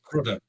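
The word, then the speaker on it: Prudhoe: It's pronounced Praa. P R U D H O E. Praa.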